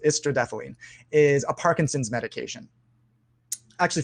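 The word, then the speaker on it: istradefylline: the star over it istradephalene that's what that word is that's how that word is pronounced estrodethylene is a parkinson's medication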